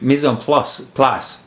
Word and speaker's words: mise en place: wanted to talk about mise en place. Is that how you say it, Marty? That sounds actually mise en place. Yeah, they actually say the C.